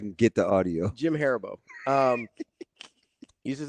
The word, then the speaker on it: Haribo: No, it's Haribo. Or Haribo, depends on where you're from. But do you remember Sevier Googling the pronunciation out loud on air?